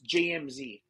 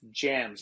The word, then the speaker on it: JMZ: they think that it's jmz it's not jmz it's jams and jams the letters